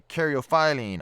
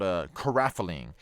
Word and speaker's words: caryophyllene: There are a few ways of how to pronounce this one. I prefer to say caryophyllene. I have also had it said to me called caraphyllene.